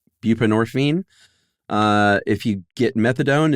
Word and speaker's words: buprenorphine: Buprenorphine. Buprenorphine.